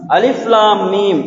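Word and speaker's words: الم: சூரத்துல் பக்ராவுடைய முதலாவது வசனம் அலிஃப் லாம் மீம் என்று ஆரம்பமாகின்றது. அதனை நாங்கள் அலிஃப் லாம் மீம் என்று அந்த எழுத்து முறைப்படிதான் அதனை நாங்கள் உச்சரிக்க வேண்டும். அதற்கு மாற்றமாக அலம் என்று நாங்கள் உச்சரிக்க முடியாது, ஓத முடியாது.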